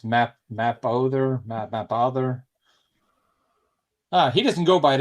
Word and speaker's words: Mapother: Well, I guess actually it's Thomas Mapother, but I said Mapweather, but it's... Oh, that changes my answer now. I don't know how to pronounce it. It's Mapother.